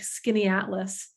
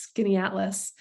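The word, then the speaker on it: Skaneateles: And we'll of course do a boat cruise on Lake Skinny-Atlas. I bet you didn't see that coming, because it doesn't look like it's pronounced Skinny-Atlas.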